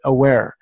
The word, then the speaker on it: Awair: Get aware. And aware is spelled AWAIR. Of course, being that was a phonological ambiguity, by the way.